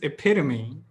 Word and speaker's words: epitome: you make this mistake it's not epitome it's epitome athlete not athlete f lead let's settle this